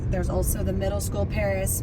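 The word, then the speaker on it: Parras: And the other thing that's nice about being north of Torrance Boulevard is there's also the middle school, Paris Middle School, and that's spelled P-A-R-R-A-S.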